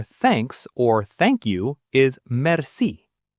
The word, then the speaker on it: merci: The word for thanks or thank you is merci. Mercy. Pause and repeat. Think of a mercy killing. Mercy.